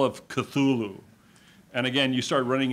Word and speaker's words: Cthulhu: text, The Call of Cthulhu. And again, you start running into problems already with his weird pronunciations. He says it's supposed to be pronounced like with a snarl.